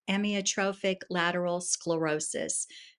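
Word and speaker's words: amyotrophic lateral sclerosis: And the actual pronunciation is emotrophic lateral sclerosis.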